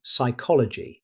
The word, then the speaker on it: psychology: Although the word begins with P, the P is completely silent. Native speakers say psychology.